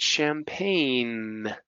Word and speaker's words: champagne: How about the silent G? Sign. Forange. No. Foreign. Gnome. Right. Champagne. Right. So these have silent G's.